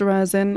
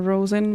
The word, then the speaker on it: rosin: It's pronounced Razin or Rosin. My friend will use both.